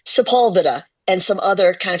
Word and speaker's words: Sepulveda: I was calling it Sepulveda. When y'all Right. pronounce this the right way, we all put the wrong emphasis on the wrong syllable because of heritage, Exactly.